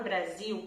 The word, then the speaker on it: Brasil: Toda letra S entre 2 vogais vai fazer um som de Z, Z, ok?